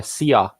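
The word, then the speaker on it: szia: It's "sia."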